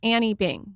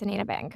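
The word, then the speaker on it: Anine Bing: I thought it was Annie Bing. So everybody does. Oh, okay. Yes. Okay. I believe she's Swedish. Okay. I only recently learned that it's Anina. Okay. But yes, it's Anina Bang.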